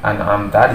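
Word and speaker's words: أنعمت: Tidak boleh terbaca dengung. Bacanya an'amta. Jadi mimnya makhrajnya jelas dari kedua bibir, jadi bibirnya tertutup sesuai dengan makhrajnya.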